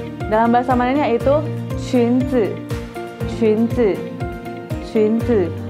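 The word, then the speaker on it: 裙子: Qunzi. Qunzi. U-nya ini dibaca seperti yu. Yu. U yang ada yang di atasnya ada titik dua. Jadi bacanya yu. Jadi bacanya qunzi.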